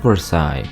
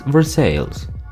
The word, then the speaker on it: Versailles: New Madrid Versailles is not Versailles like the french palace its Versailles how about the town